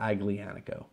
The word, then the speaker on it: Aglianico: Impregnativo, because you don't pronounce the G. That's why it's Aglianico, not Aglianico.